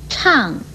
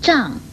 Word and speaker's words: 怅: 来的是，怅与怅都不可以念成胀或长的音，如惆怅不可以念惆胀或惆长，为虎作伥不可以念成为虎作胀。